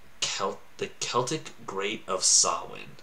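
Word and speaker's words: Samhain: the celtic great of sawwin i think is actually how you say it the way it's written though is just not even close to that because and this is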